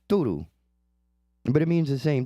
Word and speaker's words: tudo: And it's spelled similarly in Portuguese and it's pronounced tudo.